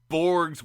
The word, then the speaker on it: Borg: Every now and then, Borgs would invade. Borgs. That's not how you say it. The Borg would invade Starfleet land.